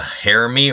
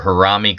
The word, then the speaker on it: harami: going to talk about the hary or harami cross today I call it harami cross guys it can be pronounced both ways it's Japanese it means